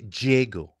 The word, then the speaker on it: Diego: Diego Fea Ferra where You could say Jgo Diego.